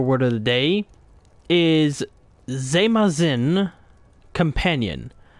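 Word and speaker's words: Zeymahzin: Today's Dovo Word of the Day is Zemazin Companion. I'm pretty sure I have that pronounced correctly. Yeah, from how I'm looking at it, it's Zemazin, meaning companions, and it is spelled Z-E-Y-M-A-H-Z-I-N. Zemazin Companions.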